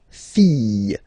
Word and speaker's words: fille: And then the feminine form, the daughter, la fille. Yeah. Okay, so this L here and E will give you the sound Y.